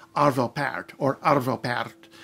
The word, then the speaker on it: Arvo Pärt: say part or appeared and if you say part well that's okay that's just incorrect and somebody's probably gonna call you on it if you say parrot a lot of people will think you're right